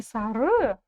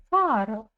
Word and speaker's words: сары: Не сары, а Сара. Потому что буква она у нас очень короткая. И ее практически не слышно. Значит, ударение будет стоять на букве А.